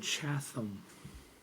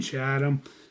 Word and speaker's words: Chatham: my place to Tuesday in a town called chasm it's not chasm maybe it is that's how it's spelt nobody calls it that we call it Channel I was going to be doing said work in Chatham and overnight so as the guy I am